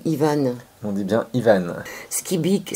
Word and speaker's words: Skybyk: Skibik, ça s'écrit Skybyk. Moi j'aurais dit Sky, bike, c'est-à-dire quelqu'un qui fait du vélo dans le ciel, mais non, c'est pas ça du tout.